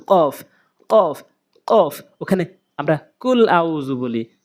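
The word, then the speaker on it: ق: খ ল্যাম কফ, কফ কোথা থেকে উচ্চারণ করবেন? কফ জিব্বার গোড়া উপরে তালু, কফ কফ কফ।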